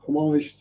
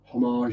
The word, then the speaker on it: homage: homage to the creature homage or homage or homage whichever way you want to distinguish has multiple pronunciations is a French word originally also on my eyes would be correct um what is it for